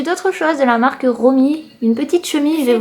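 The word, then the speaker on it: ROWME: Alors je pense que ça se dit ainsi, ça s'écrit R-O-W-M-E. Donc moi, pour moi ça se dit Romy.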